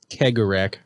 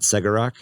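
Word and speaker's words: Cegorach: eldari culture as a total oh so it's pronounced keggerac not segarak i've heard uh seguro i've heard segarak it's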